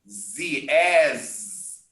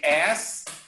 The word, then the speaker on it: as: And as, remember to pronounce Z, as, or if you say as, it's your ass, your buttocks, okay? That's a completely different word.